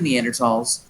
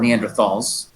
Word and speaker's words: Neanderthals: The study of the anatomy of Neanderthals or Neanderthals, both pronunciations are correct.